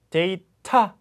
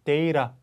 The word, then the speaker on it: data: 그래서 motor 하지 않고 motor, data 하지 않고 data 이렇게 발음되는 거죠.